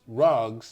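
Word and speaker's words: ragas: if you can it's actually pronounced rugs but it's spelled R A G A S raers you know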